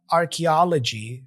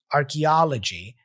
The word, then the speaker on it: archaeology: right next we have archaeology take a look at the IPA symbols here Arch G archaeology and the stress is right here in the middle archa archa archaeology archaeology all right so here is the